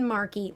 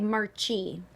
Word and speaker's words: Marchi: Just Google Kristen Dellapace and Marchi, which looks like Marchi. But like Marky Mark, but it's Marquis because it's Italian.